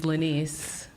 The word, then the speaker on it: Lenise: Hey, my name is Lenise. Lenise, I am terrible with names, so I'm always afraid I'm going to butcher the person's name, but Lenise was so gracious to say it's Denise with an L.